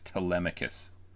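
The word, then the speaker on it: Telemachus: Just for the record, for anyone who doesn't know how to pronounce this, it's Tmicus. Agamemnon Meantho.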